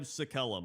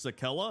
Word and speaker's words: Sakellum: And number 1 is the Scribe Sakellum, which is actually pronounced Sakella. I didn't know that.